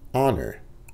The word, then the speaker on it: honor: Honor. Honor, H là pas prononcé.